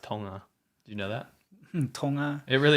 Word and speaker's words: Tonga: It's To- It's actually pronounced Tonga. Do you know that? Tonga? It really is. How Tonga? It's not It's not You don't say the G.